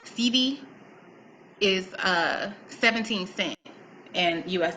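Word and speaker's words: cedi: one Ghanaian, I believe it's pronounced CD, is 17 cents in US dollars.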